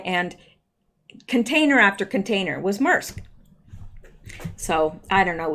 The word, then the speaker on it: Maersk: Maersk. That's it? Maersk.